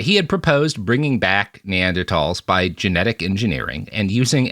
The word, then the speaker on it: Neanderthals: where he had proposed bringing back Neanderls which people always get angry are like Robert you're mispronouncing it again. That is how you say what most people call Neanderthalss.